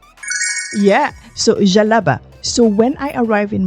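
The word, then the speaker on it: djellaba: Am I right with that pronunciation? Yeah. So, jalaba.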